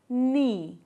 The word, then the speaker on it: knee: And the next option is we use silent W like right, wrap, wrist and wrong. Here W is silent.